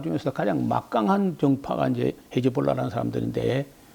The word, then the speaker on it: 헤즈볼라: 그러면 이제 헤즈볼라라고 하는데 이즈브 알라, 이즈브 알라라는 말을 헤즈볼라 이렇게 발음하는데 알라의 정당이라고 하는 그 정식 정당입니다.